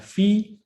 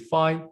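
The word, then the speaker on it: φ: cotangent line which will show it by uh F or some people pronounce it fi but f is the Greek pron correct pronunciation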